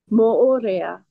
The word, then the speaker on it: Moorea: Um, now, you're in, how do you pronounce the island name? Moorea? Moorea.